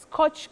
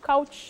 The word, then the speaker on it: couch: pronounce that one will Coach couch oh bet yes many people say coach coach coach no you say couch c o u c h couch the couch to lie on the couch the doctor's